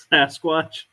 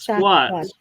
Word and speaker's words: Sasquatch: Sasquatch. Yeah, say it again. Sasquatch. Sasquatch. It's a lot of S's in it. Not squat. Squatch.